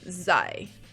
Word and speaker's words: sei: Z-E-I is like psi. That's a very hard word for me to do. Sei.